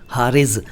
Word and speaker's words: हारिज: दो क्या तीन अल्फाज हैं, ये हैं हारिज और हारिज। अगर आप हारिज को हारिज बोलेंगे तो अर्थ बदलेगा, अगर आप हारिज को हारिज बोलेंगे तो अर्थ बदलेगा। दोनों में नुक्ते का अंतर है और नुक्ते की वजह से उच्चारण का अंतर है।